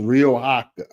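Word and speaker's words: Riohacha: be back here 20 24 as well it's pronounced rioa rioa so where is Rio AA so Rio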